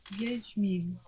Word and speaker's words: Wiedźmin: Wiedźmin.